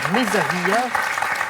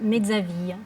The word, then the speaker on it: Mezzaville: Bon retour à Mezzavilla. J'espère que je prononce bien. Oui, ça va. Comment encore c'est... Mezzaville. Ah, c'est mieux, Oui.